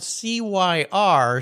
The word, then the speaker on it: Cyr: Yeah, for you listeners, his last name is spelled C-Y-R, so Barely Serious makes some sense since his last name is pronounced Cyr.